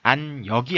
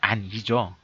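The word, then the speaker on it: 安易: 다 역으로 발음을 했는데 여기서는 안 역이 아니라 안 이죠 그래서 어 쉽다라고 쉽다라는 뜻으로 사용됐기 때문에이 음이 이로 되는 겁니다 안이 예 그래서 요렇게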